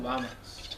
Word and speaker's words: vamos: And what you probably hear there is a B. It really depends where you are. In the southern cone around Argentina and Chile, we hear a lot more V kind of pronunciation in many places. Generally in the Spanish-speaking world, it's like a soft B.